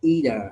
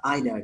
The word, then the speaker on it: either: Cái hai cái chữ này đều có thể đọc là either hoặc là either đều được, neither, neither đều được cả nha mọi người.